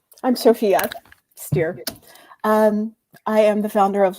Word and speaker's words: Stier: But if you say Stier, I always tell people, take the S off, and then what do you have?